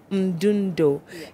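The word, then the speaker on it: Mdundo: I need to know how to pronounce that thing finally. Mundundo.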